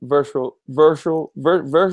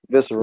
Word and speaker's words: Visceral: Another bit of news I have right here is EA has shut down virtual games. How you say it? Virtual. Visceral. Yeah, visceral games, and will reboot their Star Wars title.